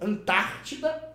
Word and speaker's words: Antártida: Antártida é proparoxítona. É proparoxítono porque a antepenúltima sílaba é a tônica.